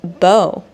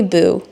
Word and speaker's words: Bo: Like, there's famous people actually with the first name Bo, like Bo Derek, the actress. She's famous. This lady should know who Bo Derek is. But she called me Boo. I guess the reasoning for why she pronounced my name as Boo is because the word T-O is two. So B-O is Boo, right?